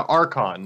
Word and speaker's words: Archon: Louis and there was always this one like really big like tabletop gaming convention called Archon and yeah they're like awesome or claude no RCC Ewan no yeah Archon like a RC h Oh N okay cuz